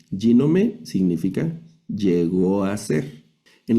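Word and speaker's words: γίνομαι: Aquí sería el acento en la primera sílaba yome. Ginome significa llegó a ser.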